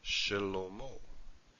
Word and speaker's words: Shlomo: In this case, it is pronounced Shlomo. So we have a short little vowel here, Shlomo.